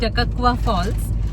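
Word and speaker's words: Takakkaw Falls: जरा खूपच अवघड आहे मी तर त्याला टकवा फॉल्स म्हणत होते आता अनिकेतने गुगल ला विचारून वगैरे आम्ही त्याच प्रोनन्सिएशन काढलय सो इट्स टकवा फॉल्स आणि इथेही त्याच मुव्च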